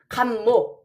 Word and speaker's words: 갑목: 그러니까 갑목 이렇게 읽어야 돼요. 감목.